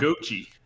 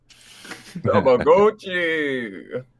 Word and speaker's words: Tamagotchi: Okay, then we got Tamagotchi Plaza, which they mispronounced Tamagotchi every single time they said it in the direct. Tamagotchi. Tamagotchi.